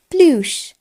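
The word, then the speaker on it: plus: চলুন দেখে নিই গাণিতিক চিহ্নগুলির ফরাসি উচ্চারণ। প্রথমেই দেখব যোগ চিহ্ন, সেটিকে আমরা বলবো প্লুস।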